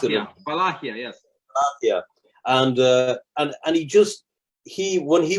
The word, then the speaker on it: Wallachia: How do you pronounce it? Wallachia, yes.